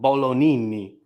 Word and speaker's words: Bolognini: Is that I'd Bolognini, imagine because I believe the G is silent. Bolognini.